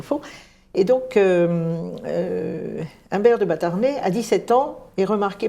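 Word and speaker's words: Batarnay: en Humbert de batarnet ça s'écrit bastarnet mais enfin ça se prononce batarnet Humbert de batarnet né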